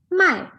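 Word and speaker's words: 卖: means to buy but in the fourth tone my it means to sell okay so we can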